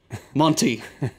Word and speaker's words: Monti: the technocrat that is Monti, who just happens to rhyme with Smonti.